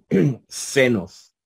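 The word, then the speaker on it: ξένος: como en xilófono Okay cuando está al principio va a sonar así seno verdad Pero cuando está intermedia entonces hace un hace un cierre como como la combinación de una acá con una s verdad como en ejercicio senos Verdad que es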